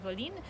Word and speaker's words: Evolène: And the whole name of this river was Evolène, I believe, like that. They pronounce it Evolene, which is like a patois. And this is where the name of the village comes from, Evolène.